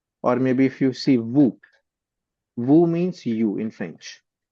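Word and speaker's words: vous: For example, uh v o us u s is pronounced as vu not woo. We say it vu. Now this s is silent over here.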